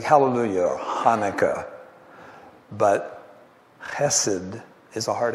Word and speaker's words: hesed: It's a hard H instead of a soft H. A soft H would be like the hallelujah, okay? Like hallelujah or Hanukkah. But chesed is a hard H.